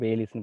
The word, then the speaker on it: Bayliss: இதை ப்ரொனவுன்ஸ் எப்படி பண்ணுவாங்க? பேலிஸ்ன்னு பண்ணுவாங்க. BAYLISS.